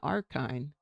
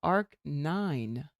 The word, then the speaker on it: Ark 9: It's not Archine. It's Ark 9. like the number nine.